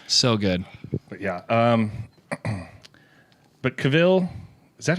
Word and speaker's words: Cavill: But Cavill, is that how it's pronounced?